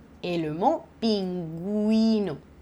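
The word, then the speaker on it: pingüino: ne prononce pas et s'il y a deux petits points je les prononce donc ici tu vois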